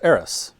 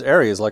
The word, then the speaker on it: Aerith: And her name is, of course, Aerith, right? Aerith. So, yeah, in the original game, there's an S in it.